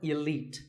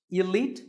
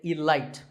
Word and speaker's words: elite: right for you number 48 is the word elite actually there are two correct pronunciations elite and elite both are okay but just don't say it light there's no light in elite now if you